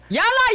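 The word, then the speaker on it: يلا: Sorry, how do you say it again? Yalla. Yalla.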